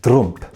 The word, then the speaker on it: Trump: In the Palatinate, T often sounds like a D, and the name Trump is pronounced something like Drumpf.